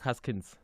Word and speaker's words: Haskins: Mark Haskins.